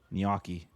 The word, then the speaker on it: gnocchi: The g and h are both silent. It's not ganaki and it's not nochi. It's niyoki. You said it correctly.